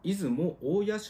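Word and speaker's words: 出雲大社: 有名ですねえ正確にはえ出雲大社ではなくてい出雲大野と読むんですがここ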